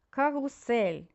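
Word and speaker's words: Karussell: починаємо наш читання да карусель карусель ль вимовляємо м'яко тут у нас при написанні два S і два L да середній рід і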